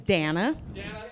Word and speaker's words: Danna: good my name is Danna it's like Hana with the D literally that's how it's